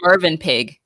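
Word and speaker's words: Mövenpick: It's written as Movin Pick, which is like a hotel chain or something. Which it's pronounced Mervin Pig.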